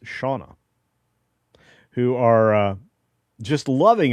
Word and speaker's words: Siana: Randall Orser, I've been watching these Brits, James and Siana, pronounced Shauna, who are uh just loving America and have now moved here, I believe.